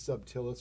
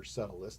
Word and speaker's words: subtilis: Yeah, but it's got a bacteria in it called Bacillus subtilis or subtilis, depends on how you pronounce it, and it eats microplastics.